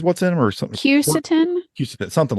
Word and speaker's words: quercetin: Is it Cucatin, I think is what's in them, or something? Quercetin.